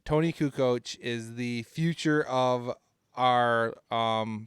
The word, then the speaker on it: Kukoc: yeah well at least I can pronounce Kukoc properly unlike everybody in that documentary would it Barkley call Kukoc yakoo Koch who Koch terrible so speaking of